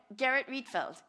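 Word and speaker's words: Gerrit Rietveld: Garrett Reedfeld.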